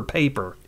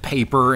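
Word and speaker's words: Pieper: I don't think it's pronounced Piper, so it must be either Piper or Paper. It's Piper. I don't think anybody's name is Piper. Are you sure it's not pronounced like that guy said paper in Waterworld?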